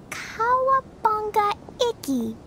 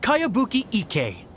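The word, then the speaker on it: Kayabuki Ikkei: new one i've never heard of it by cowabunga icky your mia this is a really strange name who's this cowabunga it's pronounced kayabuki ek that would be me outlander brigade is a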